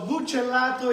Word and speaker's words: bucellato: So, Gina Mai, so bucellato is B-U-C-E-L-L-A-T-O. Bucellato. That's how you spell it.